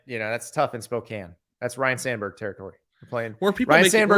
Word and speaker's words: Spokane: Pullman from Spokane Spokane is it Spokane Spokane 90 minutes there's no reason for the E on that on that word we have a lot of Silence ease in the English language sorry that silent E